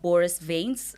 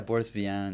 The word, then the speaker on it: Boris Vian: Collaborated on a successful audio rendition of Boris Veins. Um, am I saying it right? Boris Vans. Boris. It was Yeah, Boris Vian.